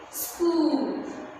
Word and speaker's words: school: Okay, children, the fifth one is school. So here H is silent.